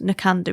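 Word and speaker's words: Knockando: It's Nakando Wool Mill, Knock and O, it's spelled. Nakando is how you say it.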